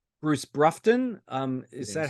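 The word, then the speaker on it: Broughton: I'm going to call it, say, Bruce Brufton. Is that Yes. how you pronounce it?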